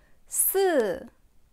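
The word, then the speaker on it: 四: Si. Si. Qui descend aussi.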